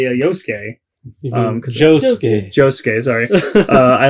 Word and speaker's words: Josuke: And Josuke's not Swedish, so it's not Yosuke.